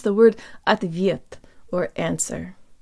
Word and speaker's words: ответ: to pronounce the word at the viet or answer the Oh sounds like a schwa let's start with a